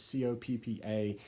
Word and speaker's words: COPPA: you pronounce that it's Co PPA and I just want to give you my definitive way to pronounce that so it's pronounced Coppa as in get to the cop house no one done this